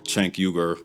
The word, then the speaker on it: Cenk: This one's about the network itself, specifically their leaders, Cenk, that's how the founder of TYT, Cenk pronounces his name, by the way, and the self-labeled politically homeless Ana Kasparian.